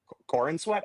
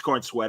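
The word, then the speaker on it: Corenswet: How do you say his last name? Corn Sweat, I believe. I thought it's Corn Sweat. Okay, I wasn't sure.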